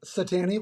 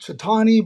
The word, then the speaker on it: Cetani: It's Satani. But hey, it's okay. No problem at all. I say why is it not Satani? Cuz I don't know. They say that it's actually pronounced Chitani, but you know, I go with it all.